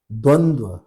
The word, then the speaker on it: द्वंद्व: उच्चारण द्वंद्व, द्वंद्व, अभी याद करिए, द्वंद्व ये उच्चारण होता है।